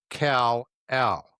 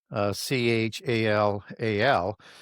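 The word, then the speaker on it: חלל: and that's the Hebrew Kal-Al, Chal-Al, and that Hebrew pronunciation is not an H sound, it's a K sound.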